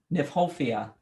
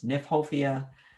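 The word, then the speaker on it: Kniphofia: the botanical name but i don't right now nyphofia the um what's in aphofia called red hot pokers nyphofia most of them are hybrids umbrella pine is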